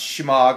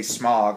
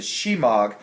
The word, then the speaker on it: Shemagh: It's pronounced Shemagh. I kind of say smog all the time, but it's a Shemagh.